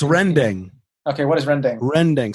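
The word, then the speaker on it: rendang: okay what is rendering rending so like in indonesian the pronunciation but you know it's rendering r-e-n-d-e-n-g and basically it's this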